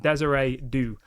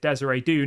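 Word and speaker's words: Désiré Doué: say it and embarrass myself, but apparently it's pronounced Desiree Doue.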